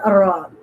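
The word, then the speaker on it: ر: Then Ra. Ra, when you pronounce this Ra and your tongue, tip of the tongue, touching the no bend on the back side like and do the vibrate Ra, Ra, Ra, Alif Zabar Ra.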